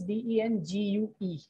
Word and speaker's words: dengue: Dengue. Dengue is another disease. It's not dengue, it's dengue. So the way we write it is D-E-N-G-U-E, right?